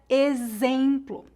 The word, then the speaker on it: exemplo: Primeiro, o X pode ser pronunciado como Z, como na palavra exemplo.